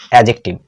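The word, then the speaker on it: adjective: এডজেক্টিভ অতএব মনে রাখবা এ আর জে এর মাঝে যদি ডি থাকে তাহলে সেখানে ডি এর উচ্চারণ হয় না ঠিক আছে ডি এর উচ্চারণ হয় না অর্থাৎ উচ্চারণটা কি হবে এডজেক্টিভ এডজেক্টিভ কথাটিকে ভাঙলেই দেখতে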